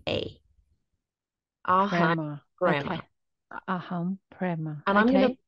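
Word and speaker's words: prema: meditation Mantra was aham brma aham brma aham spell that brma p r e m a ahma aham prma and I'm going to B the reasoning the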